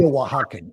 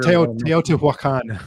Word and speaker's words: Teotihuacan: Tiahuacan or Tiahuaco or whatever. Teotihuacan. Teotihuacan. I can't ever pronounce that one.